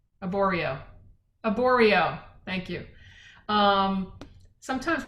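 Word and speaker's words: Arborio: that's a vegetarian dish for the most part oreo a burrito did i say it wrong aborio aboreo thank you um sometimes my brain doesn't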